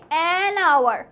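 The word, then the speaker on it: hour: a history বুক কেমন কিন্তু এটা হবে আওয়ার কারণ সময়ের আগে হ উচ্চারণটা হয় না সেম গোস ফর অনেস্ট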